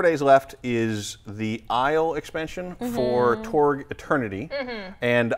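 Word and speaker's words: Aysle: Also, Isle, so like the British Isles, I guess. Yep. It's spelled A-Y-S-L-E. Correct.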